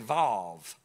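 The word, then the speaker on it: ו: And it's going to be, you can just pronounce it V if you want to. Some say Va, some say V, some say Vav. But just say V and you get it.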